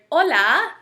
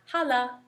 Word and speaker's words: hola: this instance the word Hola meaning hello has an H but we don't pronounce the h we say olola not Hala see hola so H's